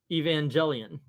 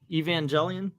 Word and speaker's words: Evangelion: ape something from English so yeah so it's Evangelion or Evangelion or EV Neon Genesis engan I